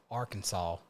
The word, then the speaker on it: Arkansas: Why is it pronounced Arkansas, but it spells Arkansas, right?